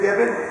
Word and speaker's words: Gibbon: pro rocket Gib Marie Gibbon yes Marie Gib that's how you pronounce it no funny Swedish pronunciation or anything that's awesome that's why